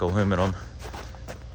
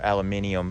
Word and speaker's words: aluminium: And then we get into really thick aluminum or aluminium for our Australian and other worldly places. They probably say it correctly, and we don't.